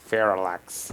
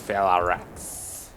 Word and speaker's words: Felarx: Yeah, I said it wrong before. I said like Felarx. It's Felarx. A little bit different.